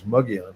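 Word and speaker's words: Mogollon: One's called Mugion, which is uh it doesn't look like it's spelled that way, but it's Mugian is how you say it.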